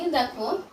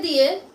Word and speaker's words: the: consonant দিয়ে শুরু আছে তাহলে কনসোনেন্ট দিয়ে শুরু হলে তার আগে যদি টি এইচ ই শব্দটি থাকে তখন আমরা টি এইচ ই শব্দটিকে দা হিসেবে উচ্চারণ করব আর যদি কনসোনেন্ট না